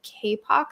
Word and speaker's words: Kapoq: And then the other thing that we use is a software called KPOQ, that's spelled KAPOQ.